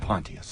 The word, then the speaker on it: Pontius: He pronounces it Pontius.